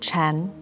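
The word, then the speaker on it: 禪: and child zen in mandarin chinese sakata and zen are both pronounced chan wu uses sakata as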